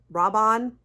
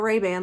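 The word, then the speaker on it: Rabanne: that is okay somebody told me how to pronounce this correctly Rob robon not not Rayban like the sunglasses robon is that right robon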